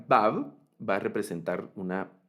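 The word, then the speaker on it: וו: Entonces, la letra Vav va a representar una V, ¿verdad?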